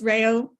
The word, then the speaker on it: Rayo: always tell my kids Rayo sounds like Mayo they never pronounce my